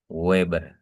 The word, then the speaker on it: Weber: Jadi kalau ini dibacanya Weber sudah itu ya.